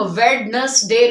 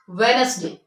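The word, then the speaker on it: Wednesday: सुना भी आय कि अक्सर लोग इसको वेडनेसडे कहते हैं इट इज रंग okay but वी are pronounce it वेनसडे वेनसडे एज as budget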